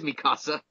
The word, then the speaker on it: Mikasa: I always feel the need to pronounce it as Mikasa. It is Mikasa.